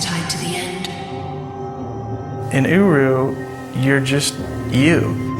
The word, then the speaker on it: Uru: In Uru, you're just you. It's spelled U-R-U.